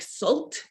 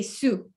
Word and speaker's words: Sault: could be pronounced like salt like salt in english it actually has a french pronunciation so when we see this we say su like it's an s